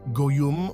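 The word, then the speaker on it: goyim: the Old Testament OT the word gwi pronounced goyum or go is used to describe an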